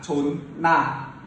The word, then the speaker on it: 존나: Ok, từ này đọc là chốn na, bắt nguồn từ chột.